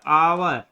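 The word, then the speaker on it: hour: फिर she waited for, यहाँ पे क्या होगा, एन, क्योंकि यहाँ प्रोनाउंस इसका साउंड क्या निकलता, आवर, आवर, है ना, तो ये क्या है, कैसा साउंड है, वोवेल साउंड है, इसलिए एन का यूज होगा।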